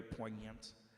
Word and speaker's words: poignant: There's a silent silent G. Poant. I felt very poignant even in this peaceful you know just business as us were coasting a long time.